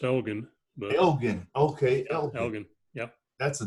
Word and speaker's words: Elgon: welcome to the show Elgin thank you Elgin didn't like you forever me okay my name's my name is actually pronounced elegan elegant okay yep that's